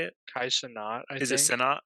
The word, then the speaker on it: Kai Cenat: Is it Kai Kanat? Is that how you say it? Kai Cenat, I think.